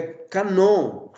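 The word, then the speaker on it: κανών: é hp então vejam geralmente no grego a sílaba tônica está na última sílaba então o que é cano para nós no grego é canon que significa isso também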